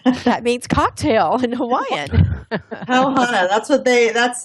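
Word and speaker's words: pau hana: we learned a word yesterday I hope we pronounce it right poana oh yes that means cocktail in Hawaiian pow Hana that's what they that's it's sort of yeah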